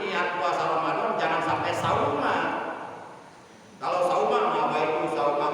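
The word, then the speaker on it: صوماً: Nawaitu sauma godin. Sauma pakai sod. Sauma, jangan pakai sa, jangan sauma. Karena beda arti. Kalau sauma itu artinya puasa. Kalau salah baca, bacanya sauma pakai sa, itu artinya bawang putih.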